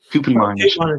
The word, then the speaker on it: Koopmeiners: Koopmeiners, yeah, and from the Eredivisie.